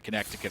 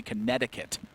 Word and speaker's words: Connecticut: this is a pretty big advantage over to Connecticut right now yeah Connecticut really in a good